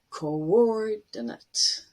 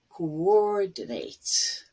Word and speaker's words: coordinate: you look at it, it looks like oo as in blue, but ko and or are actually separate syllables. And the stress is on or. So coordinate. Or if it's a verb, coordinate.